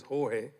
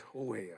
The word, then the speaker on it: Jorge: His real name is Jorge. But his mama don't know that. His name is George. The way it's spelled, J-O-R-G. They call it in Spanish, Jorge.